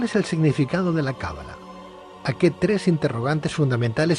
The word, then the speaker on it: cábala: noches buenas noches pedro es cábala con el acento en la primera vocal cábala o cábala a ver